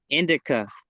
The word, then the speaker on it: Indica: Indigo. Indigo. Indica. Spell it for me.